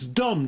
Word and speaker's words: Dom: It's not Don Letts, it's Dom, D-O-M, Letts.